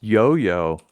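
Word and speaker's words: IOIO: Pronounced Yoyo.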